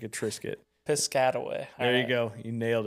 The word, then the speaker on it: Piscataway: Piscaway. Piscataway. I don't know. There's an A after. Like a Triscuit. Yeah, like a Triscuit. Piscataway.